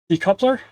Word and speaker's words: decoupler: Decoupler. I was going off of the word coupe. C O U P it's based on couple decoupler. Ah okay. So instead of saying coupe it's cup. Okay.